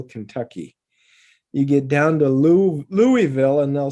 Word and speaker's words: Louisville: I'm going south and I've got to drive through Louisville, Kentucky. You get down to Louisville and they'll say Louisville. And some of them will say Louisville.